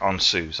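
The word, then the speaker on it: Ansuz: sometimes can get a little bit hard to pronounce correctly. So the next rune is, yeah, on Suze.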